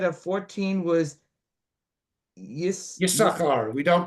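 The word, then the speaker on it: יששכר: 14, Yisachar gets even less. And again, remember, we say Yisachar, we don't pronounce the second sin.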